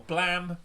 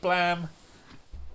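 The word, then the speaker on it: Blame!: Blame or blam. People call it blam. I I say blame because it's got an e on the end and that word is blame, but apparently it's pronounced blam.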